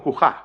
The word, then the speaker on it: cujá: La pronunciación, la forma mixeña es cujada, pronunciado como cujá, cujá con aspiración, cujá con aspiración, la cujá.